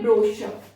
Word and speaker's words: brochure: जो शब्द फ्रेंच भाषा से आए वहां पर CH को शा प्रोनाउंस किया जाता, तो यहां पर भी उसको शा ही रखा गया।